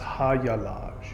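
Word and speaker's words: Hagalaz: So the term Hagalaj is the H rune. It's also can be pronounced Hayalaj.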